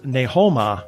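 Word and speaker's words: 你好嗎: So even though it, like, ni hao ma is hello, Yeah. it's ne ho ma.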